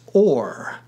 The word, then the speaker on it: our: owe God a debt our and were both pronounced or making them homophones as